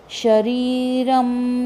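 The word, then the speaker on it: शरीरम्: शरीरम, शरीरम र के ऊपर अनुनासिक, तो य अगला वर्ण है, तो य के कारण इसका अनुनासिक का उच्चारण म आएगा। शरीरम यदवाप्नोति, प्नो न पूरा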